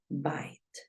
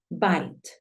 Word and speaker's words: bite: nuevamente aquí y vamos tú ya sabes que suena bite Espérame la escribimos con color verde para que recuerdes que la pronunciación se escribe con color verde bite bite es mordisco y cambia la vocal porque solo hay una consonante entre la e muda y la vocal que me interesa Entonces es muy sencillo